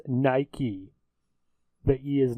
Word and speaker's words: Nike: ] she goes for all the Brits it's pronounced Nike that he is not silent you Newcastle Brown